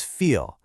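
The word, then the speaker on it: فيل: Let's take the word for elephant, which is feel. Notice that long 2-beat vowel sound.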